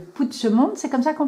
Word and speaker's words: Puigdemont: Puigdemont, c'est comme ça qu'on prononce? Puigdemont, oui.